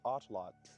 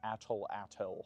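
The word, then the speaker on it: Náhuatl: You do not pronounce the L at the end of the word as a syllable. So, pronounced correctly. The word is atlot.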